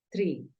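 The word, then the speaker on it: tree: la hubieses escrito acá tú dices tri se alarga un poquito el sonido no se siente mucho pero si se alarga el sonido dices Tri así se dice árbol Tri entonces árbol se escribe con doble e por lo tanto tú ya sabes que la doble e suena como una I vamos con la segunda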